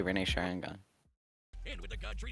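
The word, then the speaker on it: Rinne Sharingan: he awakened to the ring sharon gone some of these pronunciations are painful the ring's firing on it's not that hard to say renee sharangan and with the god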